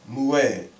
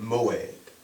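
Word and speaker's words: מועד: That word is mued. Okay? Okay? Mued. Some pronounce it moed.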